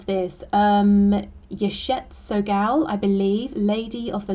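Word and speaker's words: Yeshe Tsogyal: Okay, so how do we pronounce this? Yeshet Sogal, I believe, Lady of the Lotus Born.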